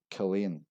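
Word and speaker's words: Culzean: This is actually pronounced as Culane.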